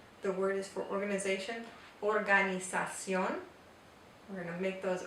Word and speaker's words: organización: And notice that at the end, instead of the English organization, we have organización. The O makes the O sound. So it's very different from the English pronunciation.